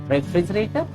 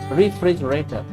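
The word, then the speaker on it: refrigerator: रेफ्रिजरेटर? रेफ्रिजरेटर? No, this is रेफ्रिजरेटर।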